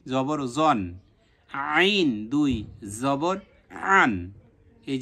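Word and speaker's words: عً: হালকের কোথায়, মাঝ কণ্ঠনালীর মাঝখান থেকে উচ্চারণ হবে আন, আন।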